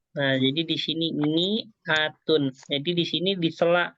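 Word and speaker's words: مائة: ada alifnya gitu tuh Tapi bacanya Mi gakapa enggak ma gitu di sini Kenapa kok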